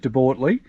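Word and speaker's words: De Bortoli: But we spent our time, and I've learned how to pronounce it now, at De Bortley, and we bought ourselves, I think it was called De Pole or something like that in the app.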